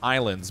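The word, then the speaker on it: Ylands: it just called Island it's called Islands but it's spelled with a why instead of an eye no clue why no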